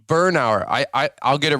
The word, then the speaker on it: Bernauer: well today we got none other than Troy Bernard if I said it correctly with TJ's law